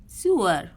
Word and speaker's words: sewer: Spelling याद करिए पहले तो इसकी, SEWER। SEWER और इसको प्रोनाउंस करेंगे सुअर।